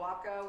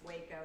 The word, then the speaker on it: Waco: right it's called a wacko it doesn't pronounce the same as the city in texas that's waco this is a waco